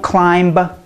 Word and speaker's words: climb: to because these words we do not say the bee and if you're learning English you may read the B and want to pronounce it but we are not combing our hair a person is not dumb when you are out in the cold you are not numb you don't hire a plumber and you don't climb a hill right well thanks for watching